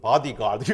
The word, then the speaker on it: 보디가드: 보디가드. 미국의 발음으로는 바디가드 이거잖아요.